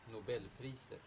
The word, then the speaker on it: Nobelpriset: A Nobel Prize was awarded for this discovery in 2011, and by the way, here's how they pronounce Nobel Prize in Swedish. Nobelpriset.